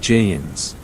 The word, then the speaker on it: jinn: I am talking about jinns pronounced as jeans a creation much attributed